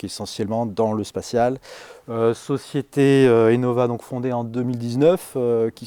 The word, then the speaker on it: eNova: Aimez Innova bien comme innovation.